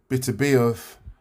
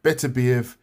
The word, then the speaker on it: Beterbiev: So this weekend, we've got Beterbiev, it depends how you say his name, Beterbiev, Beterbiev, some people say. I don't know why that way always seems strange to me, but I call him Beterbiev.